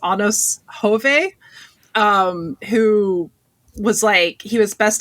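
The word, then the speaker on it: Anders Hove: And Ados, I think it's actually pronounced Anos Hove, who was he was best known before then as Faison, who was the villain character on General Hospital.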